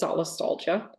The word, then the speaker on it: solastalgia: on my radar and the way it's pronounced is solastalgia it's a combination of the word Sol which is the comfort that you associate with a certain place and then Nostalgia or Alia um that's the Greek rout for grief or